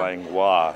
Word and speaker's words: Langlois: It's pronounced Langlois. Langlois.